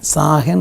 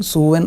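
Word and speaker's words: Samhain: മരിച്ച ആത്മാക്കളെ കുറിച്ചുള്ള സങ്കലപം ഒരു സൂവൻ എന്ന് പറയുന്ന സാഹൻ സൂവൻ എന്നൊക്ക പല ഉച്ചാരണങ്ങൾ അതിനുണ്ട് സൂവൻ എന്ന് പറയുന്ന ഒരു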